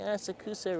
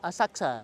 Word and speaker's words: Asakusa: You're not saying Asakusa right. It's Asakusa.